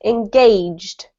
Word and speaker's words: engaged: This is just two syllables. Engaged.